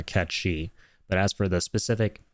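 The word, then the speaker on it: Cait Sith: will absolutely acknowledge that the original name from The Language uh is yeah it's pronounced uh catchi but as for the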